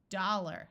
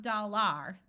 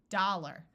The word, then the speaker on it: dollar: Dollar, not dollar, dollar.